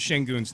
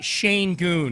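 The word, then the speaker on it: Şengün: he the whole game he couldn't pronounce Shang Goon's name. He's pronouncing it sha Shane Goon is what he was saying.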